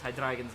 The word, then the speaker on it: Hydreigon: And yes, I do kind of pronounce Hydreigon's name a little bit funny, but that's because part of its name comes from the German word for 3, which is drei.